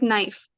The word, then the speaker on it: knife: all like you know words like knife the K is silent we don't read it